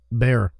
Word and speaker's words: Barre: How would you pronounce that, Kyle? Bear. Bear? Mm-hmm. Bear.